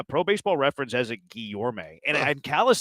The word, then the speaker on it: Guillorme: Like, he only plays second, whereas Guillermo, it's actually pronounced Guillorme.